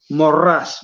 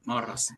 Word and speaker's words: Maurras: Morras, Maurras se escribe, morras.